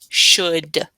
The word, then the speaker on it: should: This is should, should. Don't forget the U and the L in should.